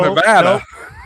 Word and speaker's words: Nevada: I've heard Nevada. It's pronounced Nevada in Missouri. Missouri is Nevada, yeah.